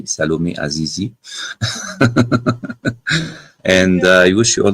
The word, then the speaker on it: Salomé Azizi: I like to pronounce it like this, French way, Salomé Azizi.